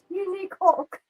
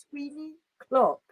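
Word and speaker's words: Tweenie Clock: Teeny cock. Yeah. Ah, Teeny cock. It's like, oh no. It was like, oh my god. No, that's not how it's said, Georgia. It's Tweeny Clock.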